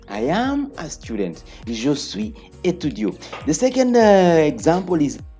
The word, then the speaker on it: suis: Je suis étudiant. Je suis étudiant. I've said we don't pronounce the last s.